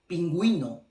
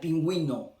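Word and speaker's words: pingüino: Now, I know that in some cases you still pronounce the U when it's these two letters together, like in the case of, for example, pinguino. Okay, it's not pinguino, it's pinguino, because, and you're gonna see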